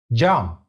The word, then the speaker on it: Cam: So let's check how do we pronounce them inside the words. Ağaç. Ağaç. It means tree. Bal. Bal. It means honey. Jump.